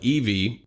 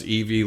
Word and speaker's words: Evie: of my first child, Eevee, pronounced Eevee like the Pokemon, but spelled Evie, who is now 2 months old as of writing this message.